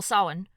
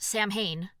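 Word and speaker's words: Samhain: and the Gaelic Festival sin which to be clear is the one that looks to anglophone eyes like it should be pronounced Sam Hayne the modern celebration of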